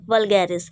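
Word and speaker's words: vulgaris: तो beater root से beta और वेलगेरिस वी यू एल वी यू एल जी ए आर आई एस ठीक है व्गैरिस अब व्गैरिस से कोई क्या कहते हैं अरे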